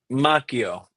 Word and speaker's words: Macchio: Macchio.